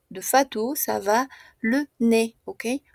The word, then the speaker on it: nez: Ouais, d'accord, tenemos le visage de Nam, la bouche de Fatou, ça va, le nez, ok? On ne prononce pas Z.